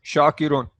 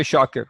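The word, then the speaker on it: شاكر: We just say shakir. Often, like in Urdu and even in Arabic, when we say this with waqf, waqf means we don't pronounce the last part.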